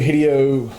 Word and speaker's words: Hideo: It's actually Hideo.